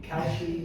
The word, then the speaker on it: Kalshi: What's your take on the discussion whether it should regulate, Polymarket or I always mispronounce it. Kalshi. Kalshi. Yeah. Good. I've learned another thing today. Kalshi, and I actually participate, so I should know how to say that.